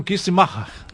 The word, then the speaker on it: Kistenmacher: Como é que se pronuncia, então? Kistemacher.